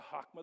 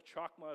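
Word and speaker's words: chokmah: The C is silent. I learned that. The hakma, the chakma as I called it last week, the hakma of the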